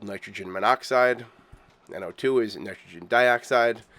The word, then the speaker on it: monoxide: of pronounciation for example dichlorine monoxide it's not mono oxides it's monoxide or tetra phosphorus hex